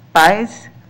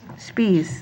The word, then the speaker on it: Spees: you Larry next up is spies I'm sorry I might have butchered your name your last name Spees there we go thanks men's all